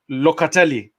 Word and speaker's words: Locatelli: your fellow countrymen if i pronounce this right locately perfect pronunciation congrats and yes let me say that